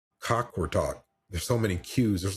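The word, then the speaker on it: Qaqortoq: And then we went to Greenland, this place called um Cockort Talk. Cockort Talk.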